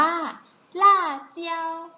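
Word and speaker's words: 辣椒: ใช่ ไหม คะ นิด ภาษา จีน อ่าน ว่า ล่า เจียว รอบ นึง นะ คะ ล่า เจียว หา พริก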